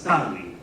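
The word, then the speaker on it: calli: Tips like when you see two consonants in a row, pronounce both. A house was tali, not calle, like if this was Spanish.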